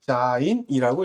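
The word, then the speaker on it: ז: 일곱 번째는 우리가 자인이라고 읽어요.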